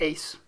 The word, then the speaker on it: AIIS: So let's take a look at the ACE model, A-I-I-S, we pronounce it ACE.